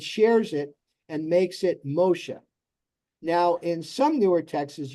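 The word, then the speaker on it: משה: And you see why this is pronounced Moshe. This dot above here, see that dot? The one that's up here? That one? That's what makes this a shin.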